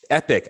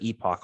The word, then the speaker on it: epoch: one epic sea poopster epic i i looked it up that's how you pronounce it so um thank you i will i will forever use epic instead of epoch although i just like yonks i've always used epoch but i digress um